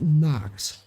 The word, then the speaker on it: Nacht: It's pronounced, oh, wait, it's pronounced Nacht. On Nacht, like not.